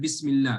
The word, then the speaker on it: Bismillah: pronounce the Hamza yes now you did so when you connected it when you joined it you didn't read it right you said Bismillah so what does that